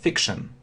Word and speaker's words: fiction: То есть пишется как он, а на самом деле shen, fiction.